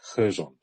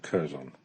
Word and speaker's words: Kherson: It's a silent K. Always does my head in, like Kherson instead of Curzon.